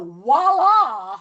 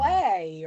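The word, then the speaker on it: voilà: And let me tell you, they go like, "Ooh, this started out beige, now voila!" And it's like Oh, wow. WALLA or WHALA or whatever. Yeah. Huh. That's terrible.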